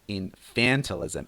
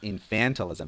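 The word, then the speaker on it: infantilism: let's pronounce it together infantalism infantalism so the stress is different from the noun which is infant this one is infantalism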